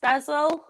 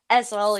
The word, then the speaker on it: Essel: Harrogate, Alsforth, which is in Leeds, and Essel, which begins with an H. It does begin with an H, yeah, but it's pronounced Ezel. Essel. Ezel, yeah.